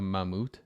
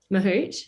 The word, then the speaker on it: mahout: But what is a for like the listeners, what is forgive me for if I pronounce it wrong, but a mammut? Mahout.